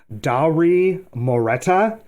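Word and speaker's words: Dauri Moreta: it but it is Dowry moreta I believe is how you pronounce his name but he was uh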